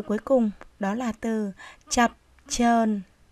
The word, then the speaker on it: chập chờn: cùng đó là từ chập chờn khi đọc cả 2 tiếng chúng ta phát âm là cho chập chờn Đọc lại nào như